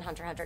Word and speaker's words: Hunter x Hunter: Hunter Hunter BT dubs I don't think you're supposed to pronounce the X in Hunter Hunter not in Japanese anyway but I don't know what it is like in English whoops right it's okay